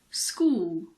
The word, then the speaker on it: school: H is also sometimes silent after a C. For example, chemistry, mechanic, school, stomach, technology.